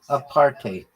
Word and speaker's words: apartheid: It's pronounced a partate or a partate with a bit of a Dutch style hide at the end like height with a D. It's made from apart and hide.